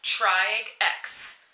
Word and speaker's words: Triage X: and I'm here to review episode five of triag X at least I think that's how you pronounce it I'm sticking with that so with